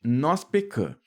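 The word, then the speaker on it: noz-pecã: O vocábulo nós pecã, aqui, gente, nós pecã é uma palavra oxítona na qual o marca a nasalização da letra A. É isso mesmo, né? Quando a gente pronuncia essa palavra, a sílaba tônica cai lá na última, né?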